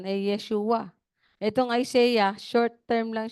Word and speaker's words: Yeshua: Joshua parang English pronce lang pero p Hebrew pronunciation Yeshua itong Isaiah Short term lang siya ng Yes